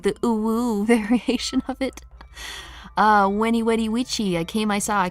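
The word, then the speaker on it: Veni, vidi, vici: Ew, the proper pronunciation for Veni Vedi Vici sounds like the ooh variation of it. Weni Wedi Wichi, I came, I saw, I conquered.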